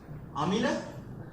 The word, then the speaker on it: Amila: We call him, we just omit M and I when we pronounce his name.